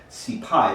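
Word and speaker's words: cipaille: a sea pie now when i say sea pie you might think s-e-a-p-i-e-c pie which is how it's spelled in reform cookery but what it actually is is c-i-p-a-i-l-l-e c-pie it's a french word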